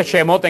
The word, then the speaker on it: Shemot: al libro de lexus el bueno se dice ese mote en hebreo pero esté preguntando cómo le decía